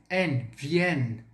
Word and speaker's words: viennent: Cuidado aqui nessa pronúncia, principalmente, novamente, você vai pronunciar o N, viennent, tá bom? Devido à junção desses dois N's aí, auparavant, antes, você vai colocar esse som, tá?